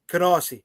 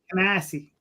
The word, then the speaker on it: Canarsie: The exit to the right on the highway is Canarsie.